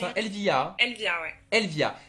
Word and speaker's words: Elvia: bah écoute, hein, moi je te remercie, hein, Elvia, c'est comme ça qu'on Mais de prononce, hein, rien. Elvia.